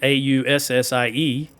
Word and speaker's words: Aussie: they think it's funny the way I say Aussie. It's because I say Aussie, A-U-S-S-I-E, because that's how it's spelled in English. And you guys say Aussie with Z's, or as you say, I think, Z's. That's why it sounds funny when I say it.